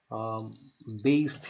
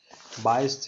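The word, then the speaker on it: Bayes: बेस theorem है ना, बायस theorem, बेस theorem है ना, जैसे प्रोनाउंस कर लीजिए।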